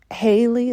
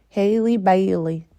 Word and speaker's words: Halle Bailey: In other news, Haley, is that how you say her name? Halle Bailey.